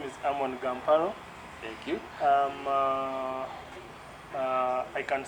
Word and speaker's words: Ammon Gamparo: about you that's very interesting um well you mispronounced my name but my name is amon gamparo thank you um i can't say my age